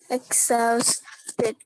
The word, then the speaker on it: exhausted: Exhausted. Artinya ya, exhausted ya. Jadi nya tidak dibaca tapi i pendek ya, exhausted.